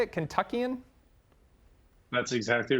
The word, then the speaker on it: Kentuckian: Is that how you say it, Kentuckian?